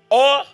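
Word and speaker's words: אור: Qui se lit or comme l'or.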